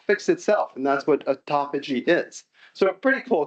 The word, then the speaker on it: autophagy: I think it's autophagy. Is that right? Autophagy. Yeah.